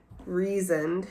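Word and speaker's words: Rhysand: Because, I'm obsessed with Reasoned, who I just found out that's how you pronounce his name last week.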